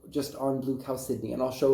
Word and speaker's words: chalcedony: I prefer chalcedony, but it is chalcedony. Chalcedony. Just remember like the name Sydney.